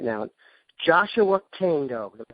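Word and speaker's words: Joshua Kaindoh: Joshua Kando. Did I pronounce that correctly?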